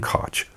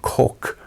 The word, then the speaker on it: Koch: the pores Heckler and Koch as most people at least those who don't speak German would pronounce it what that's not how you say the company's name nope it's actually pronounced Heckler and Coke if you want to